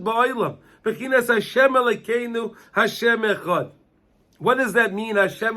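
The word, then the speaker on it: אחד: We have to be marich with the Dalit of Echad. We say Echad. You always pronounce the Dalit.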